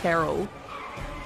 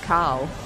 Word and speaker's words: Carl: I hate how Americans say Carl. Carl. It sounds like Carol. Why are you adding another syllable? I don't understand. Carl. It's Carl.